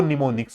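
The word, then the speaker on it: mnemonics: तो जैसे एस यू बी है इनको निमोनिक्स कहा जाता है। तो असेंबली भाषा में जिन कोड या कमांड का यूज़ किया जाता है उनको निमोनिक्स कहा जाता है। एम इसमें साइलेंट रहेगा।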